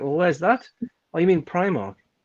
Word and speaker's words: Primark: aldi or aldi was it primal it is primark but if people say pre-mark i will slap them it's pretty wrong i